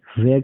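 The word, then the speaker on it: where: Last में र नहीं बोलेंगे, लास्ट में क्या बोलेंगे? अ बोलेंगे। ये आधा होता है वेयर।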